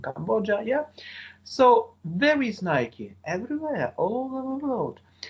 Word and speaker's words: Nike: Nike, maybe it sounds a little bit strange for you, but it is the name of the sports equipment firm. You have to pronounce it not Nike, but Nike. Okay, so where is Nike?